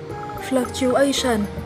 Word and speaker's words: fluctuation: Ngoài ra thì nếu như các bạn đọc từ này là fluctuation thì cũng đúng nha. Và cả hai cách đọc này thì chúng ta đều nhấn ở âm 3 nhé.